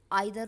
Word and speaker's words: either: और बोल रही हूँ, कुछ लोग इसे इधर और को आइदर और नाइदर नोर भी प्रोनाउंस करते हैं, बट अकॉर्डिंग टू फनेटिक इसका जो राइट प्रोनाउंसिएशन होता है वो होता है इधर और।